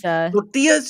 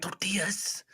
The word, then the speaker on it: tortilla: So, it's tortillas. You have to say it right. Tortillas. I did. I said tortillas.